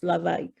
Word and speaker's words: l'évêque: And so I realized that, they were pronouncing Lavaik, what was written as l'évêque.